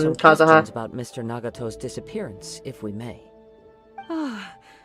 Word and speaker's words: Nagato: Let's pay a visit to the Nagato household. Nagato, that's how you pronounce it.